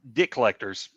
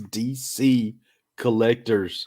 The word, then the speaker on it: DC Collectors: how you pronounce it oh no it's dc collectors oh like those comic books it was like that